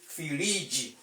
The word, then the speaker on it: firiji: But when you want to say it in Yoruba language, you say firiji.